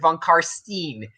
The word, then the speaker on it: von Karstein: Oh yeah, if they pronounce it von Karstein, they kill you. It's von Karstein.